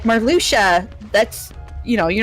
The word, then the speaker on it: Marluxia: Also, the the the guy with the pink hair, uh, Marluchia, not Marluxia. I always thought Moxia.